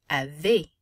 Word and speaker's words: avez: Vous avez. Easy makes an A sound. Vous avez. And the Z is not pronounced.